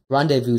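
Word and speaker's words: rendezvous: to revu in orbit randevu simply means to meet up I don't know why it's spelled like that I'm not French once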